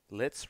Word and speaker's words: Litz: Litz rhymes with blitz. Can also be Spitz.